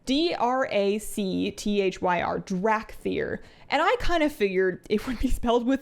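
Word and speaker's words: Dracthyr: matter but it's weird to me that it's spelled with a c it's d-r-a-c-t-h-y-r drac fear and i kind of figured it would be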